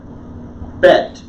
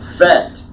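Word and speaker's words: ב: is a silent letter bank is B as in boy bet everybody event it's also pronounced FET without the Doggett okay no GML let's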